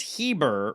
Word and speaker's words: Heber: It's pronounced Heber, rhyming with fiber.